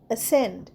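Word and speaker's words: ascend: next এসেন্ড এ এস সি ই এন ডি এসেন্ড এসেন্ডে দেখো সি এর উচ্চারণ হবে না তাই এসেন্ড যেমন উচ্চারণ হয়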